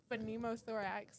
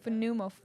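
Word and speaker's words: pneumothorax: Phenmothorax. Well, no. Phenumothorax.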